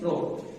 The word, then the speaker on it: rho: Rho. And the spelling for this R-H-O, not a ho, but pronunciation will be rho.